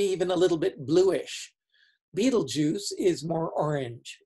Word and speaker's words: Betelgeuse: The name comes from an Arabic phrase that was mistranslated, misunderstood, and misspelled. And whatever the word meant originally, now it doesn't mean anything except as a name for this star. And any way you pronounce it is just as wrong as any other way.